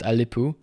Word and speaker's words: ELP: manufactured by the brand elp which if i understand correctly in china they pronounce it alipu and i got this